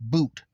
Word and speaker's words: Bout: His last name is spelled Bout, but it's pronounced Boot.